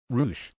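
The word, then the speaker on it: Roosh: by the name of R Vo Rouch which rhymes with douche and is that ever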